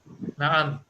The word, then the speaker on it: نعم: Na'am.